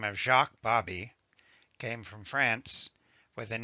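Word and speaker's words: Baby: When Ned Buntline introduced himself, I replied, "Sir, my name is Bobby. The name may be spelled B-A-B-Y, but it is pronounced Bobby, as in hobby.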